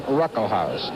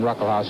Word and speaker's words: Ruckelshaus: behind the Republican William Ruckelshaus. The first S in his name is pronounced, it's silent. William Ruckelshaus, who's the majority leader, he's just 35 years old.